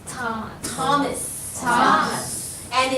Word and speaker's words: Thomas: this is always a silent totally filipino see Thomas Tom Thomas Tom and it's not an all right everybody